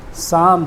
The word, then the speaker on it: psalm: और 19 नंबर पे ये जो निमोनिया है ये P से स्टार्ट है, यहाँ पर P का उच्चारण नहीं है। इसके बाद 20 नंबर PSALM, साम, साम माने भजन।